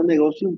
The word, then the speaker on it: Negotium: Negotium, pero se pronuncia Negotium porque es en latín y la esa se pronuncia como es negotium.